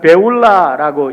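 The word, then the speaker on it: Beulah: 헵시바라는 단어는 헵치버하라는 거고 뷸라라는 것은 베울라라고 읽는 건데 우리나라 말로 뷸라라고 이렇게 번역을 했어요.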